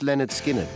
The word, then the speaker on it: Lynyrd Skynyrd: Released on August the 13th, 1973, Pronounced Leh-nerd Skin-nerd was an album that may never have